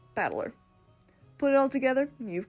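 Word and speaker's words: 戦人: kanji i can't read is made up of the characters for fight and person and it's pronounced battler put it all together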